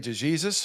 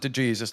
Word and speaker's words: DeJesus: My friend Denny DeJesus, who is, and he does pronounce it DeJesus, not DeJesus, even though my junior year